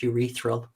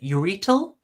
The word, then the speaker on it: urethral: You mispronounced urethral. How did he pronounce it before? What was it? Urital? Urital. You shouldn't.